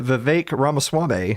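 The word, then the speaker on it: Vivek Ramaswamy: kind for number of candidates such as One V Ras swame that's right I learned to say his name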